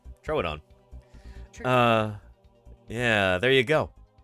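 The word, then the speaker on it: Troodon: you go tridoon everybody the famous mispronounced tridoon throw it on uh yeah there you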